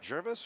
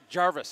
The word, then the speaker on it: Jarvis: So am I saying it right, Jervis or Gervais? Jarvis, actually. Jarvis, okay. So the A is invisible. Sometimes it's like this letter silent.